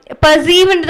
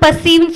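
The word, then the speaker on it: perceive: இந்த இடத்துல நீங்க கவனிக்க வேண்டியது என்னன்னா பர்சீவ்னு தான் உச்சரிக்கணும், பர்சீவ்னு சொல்லக்கூடாது, பர்சீவ் சொல்லணும்.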